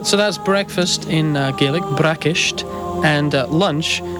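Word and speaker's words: bracaist: for breakfast and lunch to say breakfast in Scottish GIC you'd say braish braish and the word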